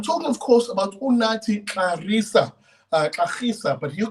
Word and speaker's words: Gxarisa: I'm talking, of course, about Unathi Gxarisa, but he'll correct me on that pronunciation of his surname. It is a Xhosa surname.